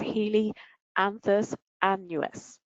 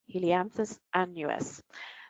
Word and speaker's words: Helianthus annuus: So I've tried to spell that out to help you with the pronunciation of this. I'm going to give it a try here. It's Helianthus annuus. Helianthus annuus.